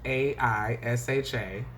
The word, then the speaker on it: Aisha: My first name is spelled Aisha. The A is silent.